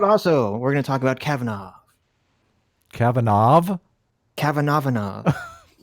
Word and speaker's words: Kavanaugh: we're gonna talk about Cavanaugh Cavanaugh Cavanaugh vinod I pronounced it the wrong way on my video this morning and people were give me a hard time it's Cavanaugh I guess but how did